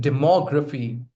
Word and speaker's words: demography: See, someone has written demography. You put stress on more. The syllable right before graphy.